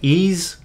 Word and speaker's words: Ys: my first pronunciation I I looked at like Ys is that ease yeah because well because